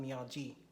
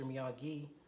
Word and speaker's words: Miyagi: It's not Miyagi, Mr. Miyagi.